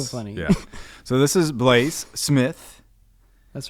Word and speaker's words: Bleys: You say it B-L-E-Y-S, Bleys. Bleys.